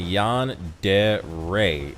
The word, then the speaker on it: yandere: So RJX says, soon de re and Yan de re is fine.